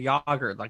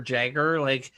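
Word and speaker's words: Jágr: I was like, "Okay, tell him this is how they pronounce this, Yarmir Yager, that. It's not Jerome or Jagger.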